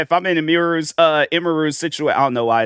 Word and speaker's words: Emiru: know why it's like I'll be saying imir cuz like that's how I would say it before then I hear people and it's like imaru and I'm like, "Oh, that's how it's properly pronounced."